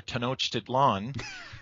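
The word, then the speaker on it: Tlön: this in English but ten Tian I don't know how you say it in English yeah well we I pronounce it and we usually pronounce it here tan tlon um okay which was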